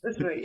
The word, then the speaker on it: Østerøy: in the old stable studio in is it Østerøy? Am I saying it right? Yes. Østerøy, yeah, in Norway.